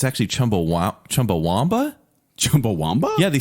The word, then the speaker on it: Chumbawamba: one thing I didn't know it's actually chumbawa Chumbawamba Chumbawamba yeah they spell it Chumbawamba w-a-m-b-a Chumbawamba yeah Chumbawamba let's look